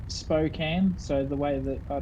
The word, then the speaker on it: Spokane: Chris was just saying it's Spokane, so the way that I told you before how to say it.